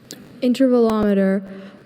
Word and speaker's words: intervalometer: Intervvelometer. Um, are there any alternate pronunciations?